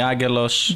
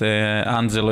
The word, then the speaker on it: Agelos: you know I know in Greek they call me aguilos without n yes okay just Angelo in Italy yep uh Phil in